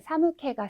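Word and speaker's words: 寒気: 우리 여러분들 회화에서 많이 쓰시는 사무케가 스루, 추운 느낌이 들다, 오한이 들다라고 하는 이런 단어인 경우에도 지금 나와 있는 캐로 읽으셔야 됩니다.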